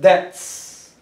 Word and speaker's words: debts: Debts, vamos a aprender que B es muda, no se pronuncia la B, es debts. Debts.